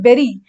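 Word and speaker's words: bury: बेरी देखो लिखा ब्यूरी है लेकिन प्रोनाउंसिएशन क्या है? बेरी।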